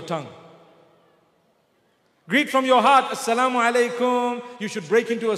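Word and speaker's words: السلام عليكم: But unfortunately, people today say, Salih. Have you heard them greeting you? Salih. What is Salih? They say, no, I mean assalamu alaikum. So say it properly. It's a blessed prayer for me. Say assalamu alaikum.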